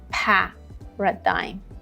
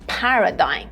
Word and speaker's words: paradigm: Paradigm. Here, the first syllable has the main stress.